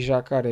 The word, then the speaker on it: jacaré: Um exemplo de oxítona com é jacaré. Ré é a sílaba tônica. Então, uma vez que jacaré é a sílaba tônica, nós temos nada mais, nada menos do que uma oxítona, porque a última sílaba é mais forte e é acentuada.